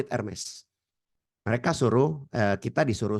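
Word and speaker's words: Hermès: tahu Kata e merek Hermes ya itu bacanya bukan herme ya Bapak Ibu Ya ini buat info saja saya pernah kena omel waktu saya di Milan saya sebut kata herme disodorkan makarons kue mereknya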